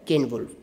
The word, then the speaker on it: Ceolwulf: But I have checked these pronunciations, so you can pronounce them the way I am trying to pronounce them: Caedmon and Ceolwulf.